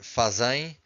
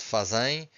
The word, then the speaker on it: fazem: Be careful because we stress this, the second to last syllable, okay? Almost all students will say fazem. It's not fazem, it's fazem.